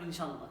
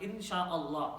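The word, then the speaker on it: إن شاء الله: And don't say inshallah. It's not inshallah. Inshallah is not a word. Inshallah is not insha'Allah. Insha'Allah. Okay? 3 parts to it. Right? So, insha'Allah.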